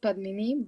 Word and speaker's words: Padmini: yeah so hey everybody my name is padmini and it's pronounced padmini but it doesn't really